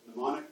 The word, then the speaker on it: mnemonic: The M is silent, so it's a mnemonic device.